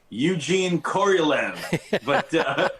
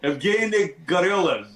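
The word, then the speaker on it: Yevgeny Korolev: Yeah, in English we would say Eugene Koryolev, but you just taught us how to really pronounce it. Evgeny Goryolev, right?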